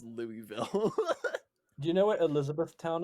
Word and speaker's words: Louisville: It Um, reads Louisville, but it's pronounced Louisville.